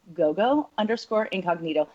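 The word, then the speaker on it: Gogo Incognito: If you are, then please go to Gogo_Incognito. It rhymes. Gogo_Incognito.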